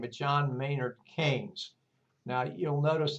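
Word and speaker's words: Keynes: name of John mayard KES now you'll notice it's spelled ke y NES but it's pronounced canes like you would say candy cane or sugar cane or something of that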